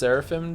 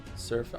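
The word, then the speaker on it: Seraphim: It's pronounced Sarapim Joe. Saraphim.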